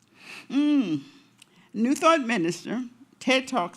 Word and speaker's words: Challgren: Chrin. Chrin.